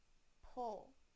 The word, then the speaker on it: pull: pool now the uh sound in the word pull pull now I will use them both in